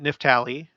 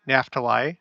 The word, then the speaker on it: Naphtali: handmaid, and she bore Dan and Naphtali, or Naphtali. I've heard it both ways.